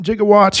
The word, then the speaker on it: gigawatt: Remember from Back to the Future, 1.21 gigawatts. Yeah, Doc Brown actually mispronounced it. It's a gigawatt.